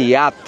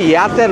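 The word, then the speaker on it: yacht: ওইরকম প্রাইভেট বোর্ডগুলো নিয়ে যেটাকে বলে ইয়াত উচ্চারণটা ইয়াতের মত হয় ইয়াত ওগুলোতে এসে কোয়ালিটি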